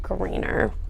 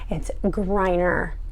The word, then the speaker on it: Griner: It's not Greener. It's Griner.